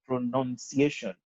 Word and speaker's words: pronunciation: But when it is in the other form, it is pronunciation. It is N-U-N, not N-O-U-N. That should also inform the way that you pronounce it. Pronounce is N-O-U-N. Pronunciation is N-U-N. So it is not pronunciation, it is pronunciation, N-U-N.